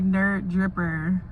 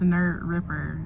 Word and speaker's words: Nerd Ripper: I almost got the name wrong. I was gonna say Nerd Dripper. What? But it's Nerd Ripper.